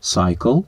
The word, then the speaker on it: cycle: якого і отримується глюкоза одразу зверну увагу на вимову літери Y в більшості запозичень з греки та латини а особливо якщо це наголошений склад вимовляємо ай наприклад кабахай вуглеводи Cycle цикл cytology цитологія або